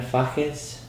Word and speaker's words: Fages: He and Fernando Samalea and Argentinian singer-songwriter that we played with last October, Marina Fajes, can I pronounce that correct?